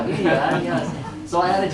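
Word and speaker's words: 豫园: And then while I was here, I got a chance to visit Yu Yangguang. Is that right? How do you say that? Gongyuan. Yuyuan. Yuyuan, yes.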